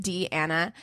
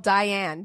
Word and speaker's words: Deanna: podcast xoxo deanna d it's pronounced d anna uh you have no idea how many times i've been called diane diane donna or something else so she's also our